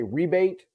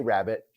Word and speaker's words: rabbet: a rabbit is or some depending on where you are in the world some say rebate uh rabbit it's spelled r-a-b-b-e-t um so i say rabbit but basically what a